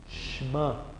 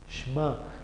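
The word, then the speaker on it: שְׁמַע: En este caso la Shin absorbe el sonido de la E. Shema, Shema.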